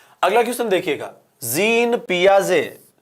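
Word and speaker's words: Piaget: ये होता है आपके पियाजे। अब इस पियाजे में, ये पियाजे तो यहीं पे रह गया, टी इसमें साइलेंट रहता है, और हिंदी फॉन्ट इसको क्या पकड़ लेता है? पिया गेट।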